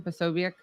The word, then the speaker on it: Posobiec: Posobiec.